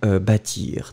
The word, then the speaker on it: bâtir: it, don't worry, and especially we don't really pronounce it. But still, it's connected in that case to the noun, un bâtiment. Remember, un bâtiment, it's connected to bâtir, d'accord?